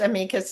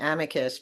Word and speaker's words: amicus: had a minute pronounced amikas nicely in the middle of the sentence and then by the end of the sentence had reverted to the horrific and earsplitting amicus problem.